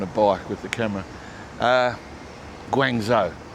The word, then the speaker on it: Guangzhou: Guangzhou, that's how you say it. I'm sticking with that. That's how I pronounce it. I think it's right.